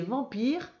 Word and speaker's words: vampire: Et vampire, alors c'est le en de lampe parce qu'après il y a un P. Et à chaque fois qu'il y a un P après le en, c'est toujours avec un M le en.